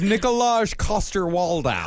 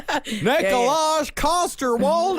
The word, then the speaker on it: Nikolaj Coster-Waldau: His name is Nikolaj Coster-Waldau. Oh, yeah, that I'm sure guy. you pronounced it Yeah. properly. Yeah. Nikolaj Coster-Waldau.